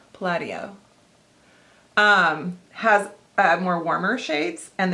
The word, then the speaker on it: Palladio: They gave me a pronunciation little guide. No, Palladio. I already did it wrong. They capitalized LAD, right? Palladio.